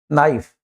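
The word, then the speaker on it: knife: तो जब कभी भी के बाद एन आता है और उस शब्द का आपको उच्चारण करना हो तो के साइलेंट रहेगा। उसका उच्चारण एन से करेंगे। नाउ नाइफ नॉलेज नीड आटा गूंथने को कहते हैं।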